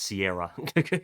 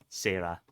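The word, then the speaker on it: Seira: Oh, it's Sarah, not Sierra. Okay, Sarah.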